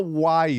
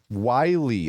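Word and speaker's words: Wyle: Because um Noah Wy, right? Is that how it's pronounced? Wy. Oh, so it's like the coyote.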